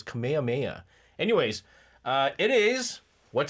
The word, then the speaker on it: Kamehameha: No, that's not how you say it. It's Kamehameha.